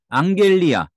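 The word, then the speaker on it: ἀγγελία: 이제 단 한번 살펴보죠 앙겔리요 앙겔리요 감마 두 개면 앙 요런 발음이 나고 앙겔로스 여기서 나왔죠 뭔가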